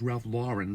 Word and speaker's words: Ralph Lauren: is the correct pronunciation is Ralph Lauren.